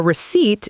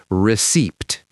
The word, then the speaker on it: receipt: And the key thing here is the P is silent. You do not say receipt. You say receipt.